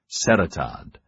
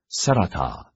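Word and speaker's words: Seratard: They sat around a long table half a dozen officers in goldplided uniforms and their leader Serat Seratar as it was correctly pronounced in the center.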